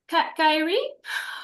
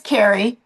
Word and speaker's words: Carrie: Kyrie. I'm sorry. Then I'll just butchered your name. Carrie. It's It is Carrie.